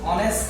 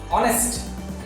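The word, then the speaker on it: honest: এরপর দেখো হি ইজ অনেস্ট ম্যান, এইটা কিন্তু অবশ্যই কনসোনান্ট, এখানে কি হওয়ার কথা ছিল? এ হওয়ার কথা ছিল, কিন্তু এইটা কিন্তু এখানে উচ্চারণ হচ্ছে না, এটা উচ্চারণ হচ্ছে কি? ও। অনেস্ট, যদি কোনো একটা কনসোনান্ট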